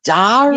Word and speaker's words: diary: cigarette Before you used to really, you'd sort of pronounce the R, you know, and I'm like, nah, it's Dari, Yeah. sis, Dari. Dari.